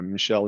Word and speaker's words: Michel: It's like M-I, Michael, but pronounced but Michel. Okay. yeah, Michel in French.